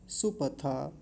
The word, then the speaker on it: सुपथा: नय अगला शब्द है सुपथा सुपथा सुपथा नहीं सुपथा छोटा ऊ है सुपथा राय राय अब